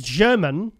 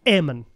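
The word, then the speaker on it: Germán: Oh, his name's German, but it's pronounced Ehrman.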